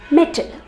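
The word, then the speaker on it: mettle: metal gold silver iron metal and metal m e t t l e metal that is to prove your ability your capability even in adverse situations that is metal m-e-t-t-l-e medal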